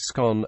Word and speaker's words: scone: with the different pronunciations there are two possible pronunciations of the words scan the first rhymes with gon and the second rhymes with tone in US English the